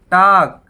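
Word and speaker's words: talk: उसके बाद half, half मतलब आधा, तो यहाँ पे L silent, L silent, L silent. उसके बाद टाक, मतलब बात करना, तो यहाँ भी एल साइलेंट।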